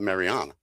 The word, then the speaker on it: Mariana: And then also he was in the Mariana Islands, which is really should be pronounced vernacularly the way it's spelled. Mariana, right, was my daughter's name.